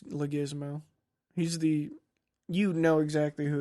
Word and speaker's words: Leguizamo: Or people try to pronounce his name Leguizamo. It's Leguizamo.